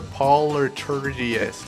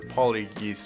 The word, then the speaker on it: poltergeist: It says talk, dream, curse, or polyturgist. I don't know what that means. Okay, so talk, dream, curse, or turd. That's a choice. No, not turd. It says polyestergy. It's spelled Poltergeist.